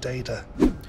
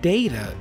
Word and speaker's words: data: The pronunciation of the word data is also important to point out. There are two main ways to pronounce this word. Data or data and data.